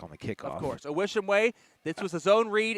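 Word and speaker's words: Uwishimwe: Awishimwe. he was pleading for a face mask call there, but it didn't work. For those of you that spell it, it's a capital U. U-W-I-S-H-I-M-W-E. You wish him way.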